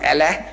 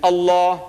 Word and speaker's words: Allah: can spell it but say Allah not la you know what in